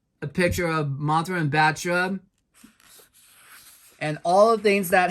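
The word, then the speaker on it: Battra: spell her name wrong it goes b a t t l a like batla but it's not it's not batla it's batra I'm going to repeat that it's batra not batla batra and here's um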